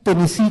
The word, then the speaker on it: Tennessee: Los demás, cuando es New Jersey, Nueva Jersey, Mississippi con acento en la I al final, Tennessee con acento en la I.